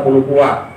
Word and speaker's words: Palupuah: Jadi Palupuah itu bacanya Palupuah, Sijin Juang.